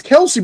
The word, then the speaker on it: Kelsi: It's Kelsey, but they spelled it Kelsi, who had abandoned her car on the westbound lane of the causeway.